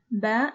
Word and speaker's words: ب: As far as the pronunciation of ba, it is similar to the b of book.